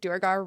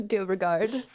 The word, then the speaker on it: Duergar: Ryan Keely's bespoke pronunciation, which rhymes with Beauregard.